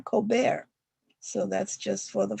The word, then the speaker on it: Colbert: He had an anglicized last name, but he wanted to throw in a dash of flair by asking people to call him Colbert.